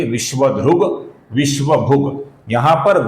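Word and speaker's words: विश्वधृक्: आगे जो दो शब्द है विश्व ध्रुक और विश्वभ इनके अंत में क है दोस्तों अपूर्ण क है जिसका संधि के नियमों के अनुसार ग बना है दोस्तों तो इसका उच्चारण हम करेंगे विश्व ध्रुग विश्वभग यहां पर ग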